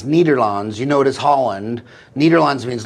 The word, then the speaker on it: Nederland: which is the Netherlands which is they pronounce nederlands you notice Holland nederlands